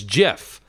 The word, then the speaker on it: Gef: understood Edith lalala it introduced a self as Jeff written gif but pronounced as GE FF and claimed to be